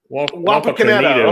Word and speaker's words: Wapakoneta: Wapakoneta. Wi-Fi? Wapakoneta. Wapakoneta. Okay. It's Nito. Wapakoneta. Like it's Nito.